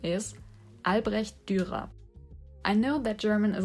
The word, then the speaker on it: Albrecht Dürer: They are named after a German artist that was born in the 1470s, and his name is Albrecht Dürer.